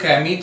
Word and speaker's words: Camus: तो ये जो एल्बर्ट कैमी थे, हालांकि इनका प्रोनाउंसिएशन कैमी है, लेकिन इनका नाम आप देखें यहाँ पर, आप देख सकते हैं CAMUS। तो MUS, लेकिन इनका जो प्रोनाउंसिएशन है वो कैमी, इस तरह से हम करते हैं।